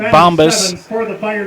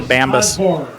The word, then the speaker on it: Bambas: That was Isaac Bombas. I don't think I said it right. Is it Bambas? Yeah, Bambas.